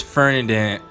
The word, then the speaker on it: Ferdinand: And right, it's Fernandad. Fernandad. There we go. Fernandad. I've been saying his name wrong this entire time.